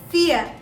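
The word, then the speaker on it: vier: to share with you guys for foul is fear fear fear means for the digit for all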